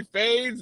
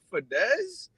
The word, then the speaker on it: Fadez: But then the guys who don't know how to say the guys who don't know how to say fades, they be looking at it as like, is that Fadez?